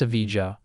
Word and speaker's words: Evija: Like most hypercars, the Lotus Evija, pronounced Evija, is a rare sight.